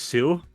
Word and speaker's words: sew: So that's s e w is sue.